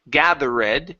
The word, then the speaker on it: gathered: The E does not make a sound. It is silent. So instead of saying gathered, it's gathered.